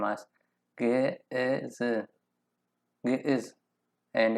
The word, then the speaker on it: Ge'ez: Hello, this video is to introduce about Ge'ez language. So we can pronounce the name, this name as Ge'ez, Ge'ez, and it's in its own alphabet.